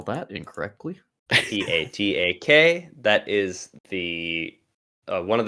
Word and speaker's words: Patak: Going to spell that incorrectly. Patak.